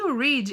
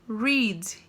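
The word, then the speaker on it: read: diferente olha que engraçado porque o verbo no presente nós lemos ele como rizzi e o verbo no passado nós lemos como red então você quer dizer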